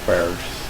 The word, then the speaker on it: Barrage: No, Barrage is the way to pronounce it.